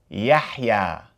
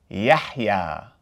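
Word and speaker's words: يحيى: So, if we pronounce this entire word, it would be Yahya. Yahya.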